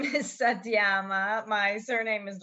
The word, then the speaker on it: Satyama: And can you please introduce yourself because when I was saying your name, I didn't pronounce it the right way. Yeah, my name is Satyama.